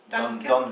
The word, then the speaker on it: Dunvegan: Dunvegan. Yeah. Dunvegan. She told us how to pronounce it, but Dunvegan.